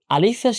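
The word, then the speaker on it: ألف: দুইটার উচ্চারণের জায়গাটা একই তো আলিফ উচ্চারণ করতে শেষে ফা এর একটা সাউন্ড আসে। এ ফাটা উচ্চারণ করতে হয় এফ এর মত করে। তাই আলিফ যখন উচ্চারণ করব শেষে এফটা ভালো করে উচ্চারণ করতে হবে।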